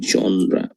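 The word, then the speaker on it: genre: বানানটা যেমনই হোক, এটার উচ্চারণ হচ্ছে জনরা।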